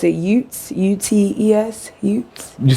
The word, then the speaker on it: Utes: to two distinct bands of i guess you pronounce it utes u-t-e-s you say bands two bands of utes